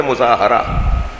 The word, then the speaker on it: مظاہرہ: یہ جو ہم مظاہرہ کہتے ہیں نا، یہ اس کا صحیح تلفظ ہے مظاہرہ.